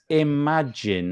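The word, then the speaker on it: Imajinn: and have a little look so this is Imagine and it's spelled in a funny way it's i m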